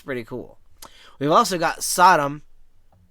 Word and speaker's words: Sodom: We've also got Sodom, S O D O M, I think that's how you say it. Sodom, right? Not Saddam. Yeah, Sodom.